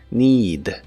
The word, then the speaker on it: need: Se pronuncia con la i larga o doble, need, need, y se usa en ideas como they need more time.